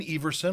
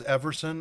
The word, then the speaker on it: Everson: my name is everson a lot of people think it's everson i'm not offended either way but it is a long e and there's been debates